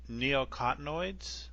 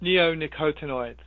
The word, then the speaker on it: neonicotinoids: The neocotinoids? Is that how you pronounce it? Neonicotinoids.